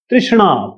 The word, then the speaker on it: तृष्णा: तृष्णा, तृष्णा, लालसा, लिप्सा। तृष्णा कह लीजिए, लिप्सा कह लीजिए, या तणहा, ऐसे कुछ नाम है इन्होंने दिया, मैं आपको दिखा देता हूं। इसका प्रोनाउंसिएशन है तृष्णा।